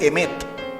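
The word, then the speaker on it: אמת: es un vocablo que en hebreo se dice emet y se escribe con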